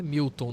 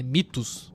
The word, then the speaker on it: Mythos: Não é Milton, não, rapaz. É Mitos. Aprende a pronunciar, o diabo. Chamando de Miltos.